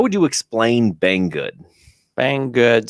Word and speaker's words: Banggood: Banggood. So it's spelled how it sounds. Bang, then good, which is an interesting name, of course.